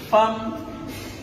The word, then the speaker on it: femme: Femme qui s'écrit F-E-2-L-E, qu'on ne dit pas femme ou femme.